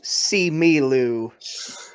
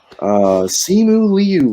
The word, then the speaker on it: Simu Liu: and Nico I had a wrong syllable. See me, Lou. and Cody. Third act of this movie sucks. Simu Liu is correct.